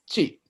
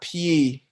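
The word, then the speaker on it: སྤྱི: why is this pronounced Chi and not Pi? CHI. Because when the yatak is added to one row, it gets pronounced like a different row. So instead of like PY, it's pronounced CH.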